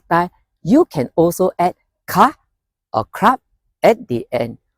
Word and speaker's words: คะ: Note that in this case, ka is pronounced with a high tone.